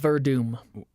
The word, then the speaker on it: Werdum: Verdum. I Sorry. say Werdum because that's how it's read. WRDUM, yeah. All right. I think he's the going phonetic pronunciation.